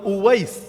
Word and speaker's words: উওয়াইস: ওই বাংলায় হয়তো ওয়াইজ কুরুনি বলেন আর কি আপনারা, এটা ভুল উচ্চারণ। ওয়াইজ কুরুনি নামে কেউ নাই। ওয়াইজ মানে তো বক্তা, ওয়াইজ মানে বক্তা। এখন ওনার নাম কি বক্তা ছিল নাকি? বক্তা কারো নাম হয় না, ওনার নাম হলো উওয়াইস, উওয়াইস আল কারানি।